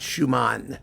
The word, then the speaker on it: Schuman: Schumann, not Schumann. Schumann was his name.